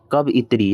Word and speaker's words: कवयित्री: तो कवि शब्द के स्त्रीलिंग रूप होइए कवयित्री। याद रखब, प्रोनाउंसिएशन पर ध्यान दे। हर्षिकार, य हर्षिकार तो दीर्घिकार।